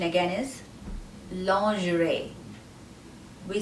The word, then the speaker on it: lingerie: the letter n long the g is pronounced as j lo j g is j ri is pronounced as rey rey long gerais lingerie the meaning of this